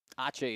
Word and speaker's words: ache: Ache is not ace in Spanish. Dominic just likes to say it. If you look at the word and like you pronounced it, pronounced it maybe. The CE sometimes makes that ch sound.